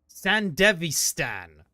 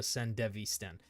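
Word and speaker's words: Sandevistan: Sand Devistan. There we go. I always said it like a sand deviant.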